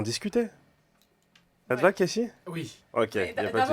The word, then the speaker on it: Kessy: J'en ai même marre qu'on m'appelle Casey, donc je l'ai Ouais. écrit K-E-2-S-Y, mais ça se prononce toujours Casey.